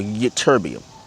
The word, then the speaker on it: ytterbium: That's actually how you say it, yttrium or ytterbium.